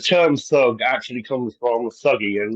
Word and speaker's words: Thuggee: if I can just interject there, just 1 second, it's actually pronounced thuggy, Thank you. Thuggi, and that is actually where the terminology thug comes from.